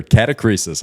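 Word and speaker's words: catachresis: Catacresis, huh?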